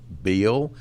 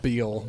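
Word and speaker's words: Beihl: His name is Bob Beal, and it's spelled B-O-B-B, and then the last name is spelled B-E-I-H-L. Okay. That is not how I would think you'd spell Yeah. Bob Beal.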